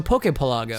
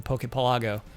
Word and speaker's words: Pokepelago: Because of archipelago? How do you say archipelago? Yes, archipelago. So Pokepelago. So Pokepelago, yeah, that makes sense.